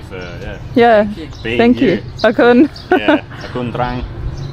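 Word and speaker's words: អរគុណ: Akun. Yeah, Akun Trang. How do you say it's Akun? Thank you. Yeah, but Akun. Akun Trang? Trang? How do you say? Okun, thank you very much.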